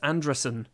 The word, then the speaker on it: Andresen: It's not Anderson, it's Andresen.